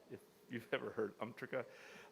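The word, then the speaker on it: UMTRCA: love acronyms in the United States and we pronounce this umrika if you've ever heard umrika it's an amendment to the atomic energy act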